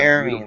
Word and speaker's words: Hermine: Oh, It's a Hermine, that's right. beautiful name. I'm so horrible with names. Silent H.